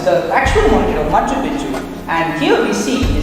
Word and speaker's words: Machu Picchu: actual mountain of Machu Picchu, and here we see the sacred river called the Vilcanota. For most speakers of English or Spanish, the first C in Picchu is silent.